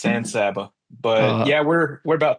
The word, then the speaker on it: San Saba: Yeah, it's like San Antonio, except it's San Saba.